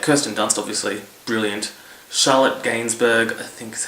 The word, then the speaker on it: Gainsbourg: Charlotte Gainsbourg, I think is how you pronounce it.